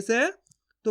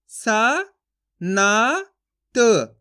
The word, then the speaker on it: संत: उच्चारण नहीं करना आपको अगर आप पूरा ना के रूम में इसका उच्चारण कर दोगे इस तरीके से तो कैसे पढ़ा जाएगा ये स ना त सनत गलत हो रहा है शब्द कैसे पढ़ अपन इसको सनत यहां पर अपन आधा ना का उच्चारण करेंगे तो कैसे पढ़ेंगे संत फर्क समझना आपको दोस्तों